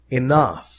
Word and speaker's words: enough: Enough. Enough. لاحظ أن لدينا هنا الحرفان G و H ينطقان مثل فا.